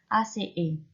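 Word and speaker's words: -aceae: Ingat ya, AE cara bacanya yaitu E, ACE.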